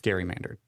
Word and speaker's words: gerrymandered: Gary mandered.